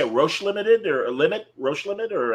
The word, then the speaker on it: Roche Limit: Roche Limited or Roche Limit, or how do you?